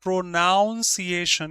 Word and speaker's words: pronunciation: Pronunciation is not pronunciation, it's pronunciation n u n.